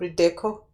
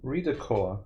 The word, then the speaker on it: Redecor: Oh, so what I love about Redeco? How do you pronounce it? Redecor. Redecor. Yeah, it's like redecorating just without the eating.